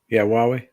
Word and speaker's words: Huawei: Huawei, John? Yeah, Huawei.